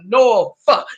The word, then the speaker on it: Norfolk: Norfolk, yo, with an F if you say it right.